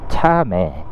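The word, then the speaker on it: Chame: 말들이 많이 키우네 어 참매 어 발음이 저희 먹는 참매 매가 아니고 참매 차 매입니다 발람이 좀 비슷해 가지고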